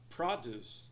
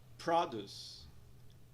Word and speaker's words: produce: Nós vemos um apóstrofe após a primeira sílaba, indicando que ela é mais alongada e pronunciada em um tom mais alto. Pronúncia da palavra, então, produce, produce, produce.